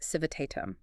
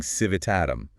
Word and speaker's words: civitatem: So civitatem begins to lose its tail, but the heavy accent stays locked on that T sound. Exactly. People go from saying civitatem to something more like civitatem.